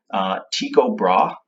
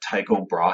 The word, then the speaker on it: Tycho Brahe: first one and there's two different ways of pronouncing his name Tycho Brahe I'd be this guy some people pronounce that Tycho Brahe hey like I know my university professor what